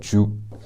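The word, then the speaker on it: 죽: I think it can be called kanji, or I don't really know the pronunciation. In Korean they call it juk, J-U-K, and I have that right here.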